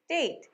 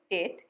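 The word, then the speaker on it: date: Next, খেজুর, ইংরেজি ডেট। Common mistake, অনেকে উচ্চারণ করে ডেট, কিন্তু এটার উচ্চারণ ডেট, এই দিয়ে।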